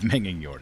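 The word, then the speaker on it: Megingjord: Is it Mejing Yord? I don't know Swedish very well. I don't know how G's are pronounced in Swedish. Okay, I was missing 5. Thunderstone. Whatever that is. It's Menging Yord.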